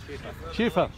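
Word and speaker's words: Schäffer: It's a Schaffer, not very sure. James Earl is watching there. How do you pronounce this feeder, this machine here? Schaefer.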